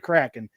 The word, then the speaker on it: Kraken: And it is said Kraken. I looked it up to make sure I was pronouncing it right.